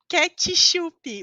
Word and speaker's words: ketchup: não tem vogal então a pronúncia dessa palavra é ketchup ketchup vocês podem acreditar é